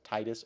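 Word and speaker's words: Tidus: decades arguing about whether it's pronounced Titus or tetus it seems what I can find that it should be tetus but I've said Titus for so long in my head that uh that I don't I don't think I I cannot be disiplined enough to say tetus consistently it's not going to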